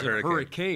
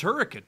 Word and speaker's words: Hurricane: spell hurricane right and everybody outside West Virginia cause hurricane yes but it's hurricane I was I was schooled on that there's actually a couple who lived in hurricane and their daughter went